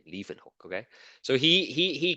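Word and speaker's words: Leeuwenhoek: scientist okay so his his name was Antony van Leen hook that's how you pronounce his name Le hook okay so he he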